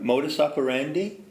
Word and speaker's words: modus operandi: stands for modus operandi remember modus operandi rhymes with Lotus candy but it ain't the